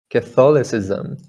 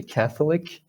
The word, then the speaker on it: catholicism: you all know right catholic it's actually catholic right cat catholic but catholicism catholic catholicism completely different you just um you